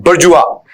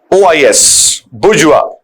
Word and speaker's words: bourgeois: एक और word middle class के लिए यूज करते हैं, बुर्जुआ। बुर्जुआ बड़ा अच्छा वर्ड है। बुर्जुआ इसका उच्चारण इसलिए अलग है क्योंकि फ्रेंच वर्ड है, लेकिन रीडिंग में पैसेज में हम बहुत ज्यादा वर्ड इसका इस्तेमाल करते हैं।